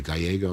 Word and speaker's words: Gallego: You see Ruben Gallego, or Gallego, I should pronounce it correctly, who's the senator from Arizona.